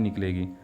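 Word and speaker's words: knock: क नॉलेज नहीं पढ़ेंगे वर्ड है नॉक यानी दस्तक देना यहां भी के के साथ एन आ रहा है इसलिए के जो है वह साइलेंट होगा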